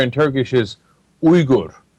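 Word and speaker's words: Uygur: get crap for it too because the correct pronunciation of yuger and Turkish is ur right and they're like why don't you say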